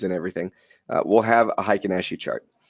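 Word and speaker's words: Heikin-Ashi: your thinker swims and everything will have a high kanashii chart it's spelled hei ki n a sh i now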